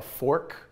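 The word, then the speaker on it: FORC: Waimea we ate at a fork Fork restaurant so a great concept to Fork is spelled f-o-r-c and it stands for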